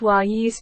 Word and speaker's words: Auguste: going to be killed and he, Auguste, pronounced "Wayus" by the Indians, he himself, Auguste, was going to eat their hearts.